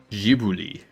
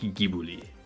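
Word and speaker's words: Ghibli: Gibli or Gibli. I don't know. I know that in Japan they pronounce it they they don't pronounce it Gibli or Gibli. They pronounce it like Giblly or something.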